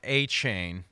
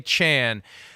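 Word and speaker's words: Achane: Bengals they needed that when I first heard the pronunciation of Devon achain in the preseason I could hear Chris Burman saying Devon Take the A Train achain well now it's aan so it's take the a Chan this is incredible what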